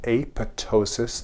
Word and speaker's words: apoptosis: in a process called apoptosis. The P is silent.